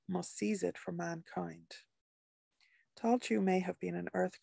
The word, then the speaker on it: Tailtiu: The pronunciation was always fun, Tailtiu, as I've been saying, and earned me the nickname of Chewy.